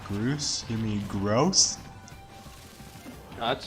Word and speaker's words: Groose: Actually, it would have been funnier if you just said Groose. You mean gross? No, that's stupid. I mean, for God's sake, his name rhymes with goose.